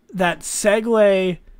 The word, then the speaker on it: segue: It's spelt SEGUE, like Segway, totally different.